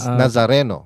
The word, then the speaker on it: Nazareno: this is actually Naza nazza how do you pronounce it again na nazareno right nazareno yeah but something the black Nazarene